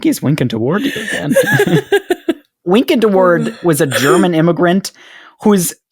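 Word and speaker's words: Wynkyn de Worde: But it was published by, I kid you not, a man named Wynkin de Worde. Wynkin de Worde? Spelled with Y's.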